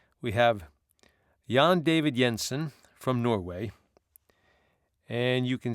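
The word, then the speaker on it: Jensen: is called yon David Yensen roll part one and part two yon David is J N David and Yensen is spelled j n ssen now in that video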